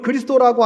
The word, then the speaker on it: 그리스도: 여러분, 그리스도라고 하는 말은 헬라어로 크리스토스, 그것을 우리식으로 발음한 것이고요, 그것을 히브리어로 말하면 메시아가 됩니다. 자, 메시아, 그리스도, 메시아는 히브리어고요, 그리스도는 헬라어의 우리식 발음입니다.